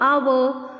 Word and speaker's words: hour: Our, honest, honorable. We cannot say honorable, honest and hour. Obviously H is silent in these words.